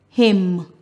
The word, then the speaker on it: hymn: Words that end with MN, the last letter is silent, the N. Autumn, column, condemn, damn, hymn, solemn.